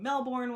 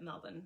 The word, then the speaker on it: Melbourne: it like that and you may be saying melbourne when you look at it on paper um all of the australians pronounce it melvin so that's why i'm saying it like that